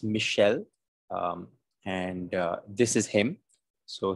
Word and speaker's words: Michel: And it's Michel, and this is him.